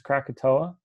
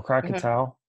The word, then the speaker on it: Krakatoa: example of this is Krakatoa or crocodile yeah it could pronounce two either way it was it made